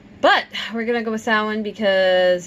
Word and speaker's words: Samhain: Alright, so, it is Samhain. Yeah, it's pronounced a couple of different ways depending on where you hail from and what language you speak. But we're gonna go with Samhain because it's the easiest